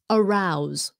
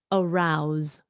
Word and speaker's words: arouse: that's one rule verbs verbs ending in s e and the E is silent okay s e and the E is silent example arouse arouse sounds like a z choose choose okay that